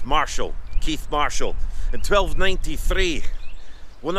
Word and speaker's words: Marischal: Keith Marshall, that's the correct pronunciation.